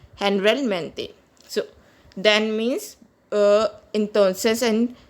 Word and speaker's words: generalmente: Guys, here you see, here we use G before O, it is pronounced as luego, and here we use G before E, it is pronounced as H. Generalmente.